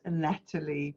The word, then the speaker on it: Nathalie: And her name is written Nathalie, but pronounced Natalie because it is French.